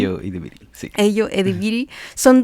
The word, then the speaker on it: Ayo Edebiri: Bueno, ahí nombre dudo de la pronunciación. Ayo Edebiri, sí.